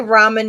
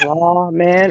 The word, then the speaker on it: ramen: do you say R how do you say ramen noodles raw man or B man everybody's going to do Ramen because that is the correct way to say it say or you